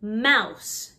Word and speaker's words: mouse: lion not lyon lion mouse just like house one mouse to mice